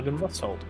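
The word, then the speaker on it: Argynvostholt: I know, but I was saying, is that how you pronounce it? Oh. Yeah, Argenvostholt.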